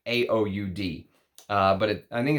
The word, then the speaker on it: oud: AUD and he and he spells oud AUD a o UD D because he says when he was in the Middle East uh that's how people would um that's how people would pronunciate it I had some people in theid e say it's not true that's not how we say UD but that's his story anyway